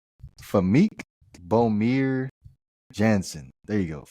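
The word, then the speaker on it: Famke: How do you pronounce this? Where's the pronunciation? You like the crazy girls, don't you? Her name is Famik Bomir Jansen.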